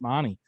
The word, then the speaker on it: Mahoney: there called mahoney and i just always say it so it's spelled the same so always get that like stuff yeah yeah until someone actually come out said no it's mani but um yeah so they're